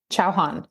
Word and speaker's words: Chauhan: Chauhan.